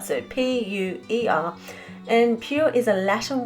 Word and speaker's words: Puer: Now Point Puer, and I hope I am saying this correctly, I did listen to a YouTube video of a lecture about the subject and this is how the narrator pronounced it. So Puer, so P-U-E-R, and Puer